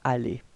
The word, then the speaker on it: allées: Okay, so you've got to write them but don't pronounce them. Okay, if you take the example of the last form, it's elles seront allées.